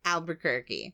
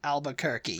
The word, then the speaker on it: Albuquerque: albu CK used to say Al ALU kerk Albuquerque Albuquerque yeah aluer Al ALB quir quirky qu but